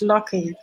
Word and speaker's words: Lockie: track we have Loki did I pronounce that correctly it's not luck it's lucky yes he's going to